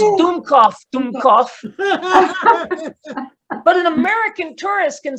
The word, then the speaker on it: Dummkopf: What a dumb cop of." Yeah, though it's pronounced Dummkopf.